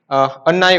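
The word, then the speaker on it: அன்னை: It is written as annai, but it is pronounced as amma.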